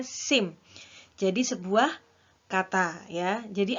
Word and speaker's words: SIM: Mengemudi diakronimkan menjadi SIM bukan dibacanya PSIM tetapi dibacanya SIM jadi sebuah kata ya